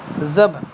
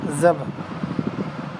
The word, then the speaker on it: ذبح: نظم میں ایک لفظ ذبح بھی آیا ہے، اس کا صحیح تلفظ بے اور ہے پر جزم کے ساتھ ہے. بے اور ہے پر جزم کے ساتھ ہے، ذبح ہے نا، ذبح.